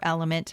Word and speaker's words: LMNT: Additionally, adding a raw unflavored electrolyte supplement like LMNT um can give you the or element, however you want to say it. It's spelled L M N T.